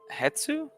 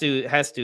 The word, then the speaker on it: Hestu: but Hestu is the correct way to say it. Oh, Yeah. well, So that's the thing. Hetsu feels more natural to me, but it's Hestu.